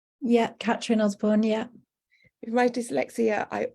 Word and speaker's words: Catrin Osborne: Am I pronouncing your name correctly? Yeah, Catrin Osborne, yeah.